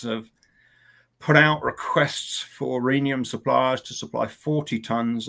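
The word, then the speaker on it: rhenium: Um but interestingly um they suggested reinium goes on as well or reanium should I say pronounce it the American way.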